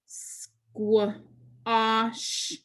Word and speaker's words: squash: combination q u and since that a is following q u it's going to say ah so we put two dots